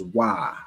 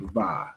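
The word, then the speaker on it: ו: All right, for the Ronin, yeah, Khan, the it would be pronounced as Wa, not Va. There is no Va in the Hebrew alphabet.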